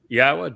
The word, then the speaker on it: Yahowah: We uh are the first to prove that it is pronounced Yahwa. Did the research to do so and have written about it and having respect for Yahwa is essential and it is the only way